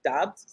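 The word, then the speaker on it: Doubs: wide receivers um the the romeo kid romeo dobbs that is how you pronounce his last name uh rogers has been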